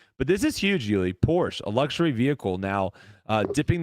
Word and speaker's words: Porsche: People want us to pronounce it properly. Sorry, Porsche. Porsche. Yeah. Sorry. Porsche. But she I feel like people say Porsche. Yeah, for sure. The actual pronunciation is Porsche.